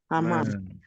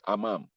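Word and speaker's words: حمّام: Hammam. No, not amam. It's like when you are panting.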